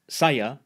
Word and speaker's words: saya: Final a is usually pronounced as a schwa in Malay, at least in Malaysia. A couple more examples. Saya, meaning I, is pronounced saya.